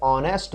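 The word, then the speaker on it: honest: वैसे तो N vowel से पहले आता है क्योंकि एच इसमें साइलेंट है तो ऑनेस्ट मैन।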